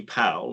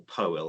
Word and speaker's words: Powell: I suppose the other thing was that, Anthony Powell, or Powell, as some people pronounce it.